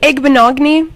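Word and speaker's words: Igbinoghene: Igbenogany.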